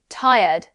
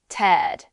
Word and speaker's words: tired: Many beginners say tired, like tie, red. But Americans usually say it faster, tired.